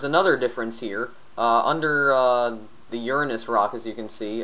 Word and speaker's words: Uranus: So now we're going to go on to the next planet, which is Uranus, not Uranus, because that's how it's pronounced.